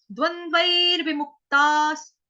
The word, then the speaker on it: द्वन्द्वैर्विमुक्ताः: विमुक्त, द्वंद्वैर विमुक्तास, ओके, द्वंद्वैर विमुक्तास। विसर्ग का उच्चारण जो है आधे स से करेंगे, क्यों, क्योंकि आगे सुख आ रहा है इसलिए, ठीक है, स, द्वंद्वैर